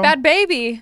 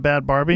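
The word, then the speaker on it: Bhad Bhabie: are make like that bad Barbie girl. Bad baby. Whatever it is. Oh. How do you say it? Bad baby. Is it baby? It's not bad Barbie? Nope, bad baby.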